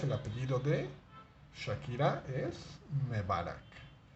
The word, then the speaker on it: Mebarak: que Shakira se llama Isabel mebarac repole Isabel mebarak Cómo se escribe Cómo se escribe Bueno pues me varax